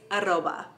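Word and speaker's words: arroba: the way there but what about the at sign in spanish it's aroba so an email address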